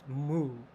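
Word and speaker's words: 無: ball and moo yeah in Japanese pronounced moo yeah IM said like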